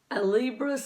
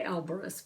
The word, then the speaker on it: Alibris: very cheaply off of Alibris, is I think how you say it. I always say Alberus, but I think I'm saying it wrong. I think it's Alibris because like book.